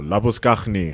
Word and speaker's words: Labuschagne: Marnus Labuschagne or Labuskaghni, how you want to say it. No. You're South African. Just because he moved to Australia hasn't changed how we pronounce it.